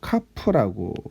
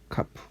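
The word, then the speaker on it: כף: 자, 처음에 11번째 자음을 우리는 이제 카프라고 합니다. 카프.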